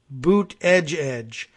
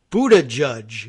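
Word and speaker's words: Buttigieg: to slightly different ways one I think the official declaration maybe even from the campaign was that it was Boot edge edge but I have also heard I saw no less an authority than Mika Brzezinski whose name is not that easy to pronounce from writing herself said Buddha judge is that kind of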